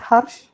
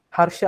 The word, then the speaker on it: Harsha: It's not Harsh. Wait, wait. How do I pronounce it? Is it a hard R or is it Hush? Harsha. Oh, okay. Oh, you're saying I pronounced it right.